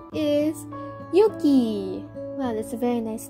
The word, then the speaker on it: Yuki: It is a noble name for both genders, although it's pronounced a bit differently, with a long U in the boy's pronunciation. As Yuki, you are strong, courageous,